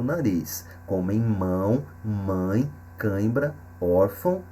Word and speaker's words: órfão: câimbra órfão e órgão então nessas duas últimas palavras o acento agudo na primeira sílaba ora indica que a sílaba mais forte e também a pronúncia aberta da letra o na outra sílaba o tio indica que o som é nasal no caso de órfão e órgão ok então o tio